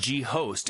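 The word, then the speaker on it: G.ho.st: was founder of G I think it's just pronounced G host a predecessor of Dropbox oh just ghost Great Ghost the predecessor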